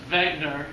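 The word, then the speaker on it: Wegener: his bed Alfred whitener actually pronounced Wagner because he was German scientist and he said that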